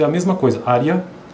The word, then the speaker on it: área: é a mesma coisa área área por mais que seja um e né e a na verdade na pronúncia é i então é área série série